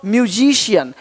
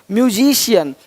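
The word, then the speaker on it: musician: अब देखो यदि सी के आगे आई ए हो तो सी का उच्चारण श होता है।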